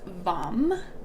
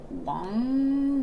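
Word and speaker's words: vam: orange and um it's it's a mantra is vom v-a-m but it's actually pronounced wang like w-a-n-g and yeah we're gonna do a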